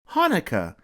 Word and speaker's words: Hanukkah: in the word but no matter how you spell it it's always pronounced the same way Hanukkah say it with me